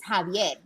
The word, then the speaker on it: Xavier: pronounced well because xavier xavier in spanish and in latin is javier like that's how you pronounce it x-a-v-i-e-r it's right but